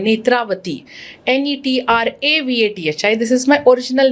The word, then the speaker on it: नेत्रावती: मेरा भी नाम है नेत्रावती, NETRAVATHI, this is my original name spelling but I have dropped the A to that, so नेत्रवती। सो it's actually pronunciation vibration wise same ही है but spelling is different.